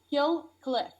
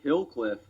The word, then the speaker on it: Kill Cliff: Kill Cliff. How do you spell that? Kill. L like kill, and then CLIFF. I thought you said Hillcliff.